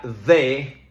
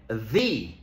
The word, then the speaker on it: the: a veces dicen di decimos de cuando la palabra empieza por consonante por ejemplo the car the house The dog decimos di cuando la palabra comienza por vocal por ejemplo the Orange the Apple the elephant hay algunas excepciones por